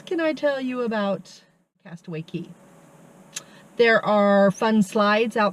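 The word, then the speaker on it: Castaway Cay: of Disney's Private Island Castaway Key okay fun fact it's spelled c a y but it's pronounced key um yeah I don't know why but it is Castaway Key Castaway Key awesome uh Castaway key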